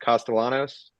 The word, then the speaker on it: Castellanos: Their quarterback, Castellanos, he can run.